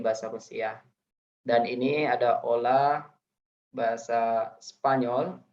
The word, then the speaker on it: hola: Dan ini ada Ola bahasa Spanyol. Ini bacanya jangan hola ya. H di sini silent, dia tidak dibaca, tapi Ola.